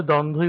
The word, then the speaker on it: দ্বন্দ্ব: দ্বন্দ্ব এই বানানে যতই দ্বন্দ্ব বলি আদতে কিন্তু ধয়ের উচ্চারণ নয়। আপাত অর্থে আমরা ধ উচ্চারণ করে থাকি, এই জন্যই স্টার্টিং এ কিন্তু দ্বন্দ্বই উচ্চারণ করলাম। কিন্তু খেয়াল রাখতে হবে আসলে বানানটা হচ্ছে দয় ব দন্ত নয় দয় ব, তাহলে দ্বন্দ্ব।